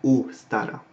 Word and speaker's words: Ostara: Donc en vieux haut allemand, Ostara se prononce Ostara. C'est-à-dire qu'on fait un O fermé, pas un O ouvert.